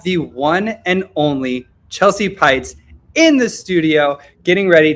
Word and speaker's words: Peitz: And for those of you who are listening or watching this and don't know who I am, I'm Chelsea Pites. My last name rhymes with lights.